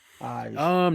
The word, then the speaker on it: Ige: Is it Ig or Eeg? Ige. Neither. Ige. Ige. Ige. Oof. I was way Yeah. off. Yeah. Or try to say it like Ihe, maybe, but just like a little G sound, like Ige.